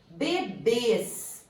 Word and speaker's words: bebês: Bebês. A sílaba tônica é o bês. Ela é terminada em E, seguido de S.